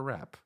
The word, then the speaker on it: wrap: But then they overhear a woman ask her husband to take her wrap. A wrap with a silent W, alluding to a fur wrap.